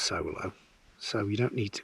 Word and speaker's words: Soulo: sand colored hilleberg because i'm out in the zulu now i know it's pronounced solo so you don't need to comment on that